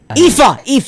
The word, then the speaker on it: Aoife: No, it's Aoife. Aoife. That's Aoife.